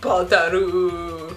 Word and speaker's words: Balder: I say Balder and I spell it Balder, but it's like Badaru.